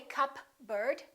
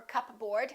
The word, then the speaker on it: cupboard: psychic one more cupboard don't say cup bird or cup board say cupboard my kitchen cupboard silent s Arkansas Illinois